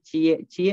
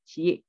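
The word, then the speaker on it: qi: sudah menurun dan kecukupan cie adalah darah itu ya jadi tulisannya sue dibacanya Cik jadi Ci Itu adalah Darah jadi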